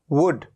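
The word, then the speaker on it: wood: examples आपके सामने हैं एक एग्जांपल है वुड यह है वुड उ उ कैसे लिखा जाता है इसको वुड वु ड तो छोटी उ की मात्रा तो छोटे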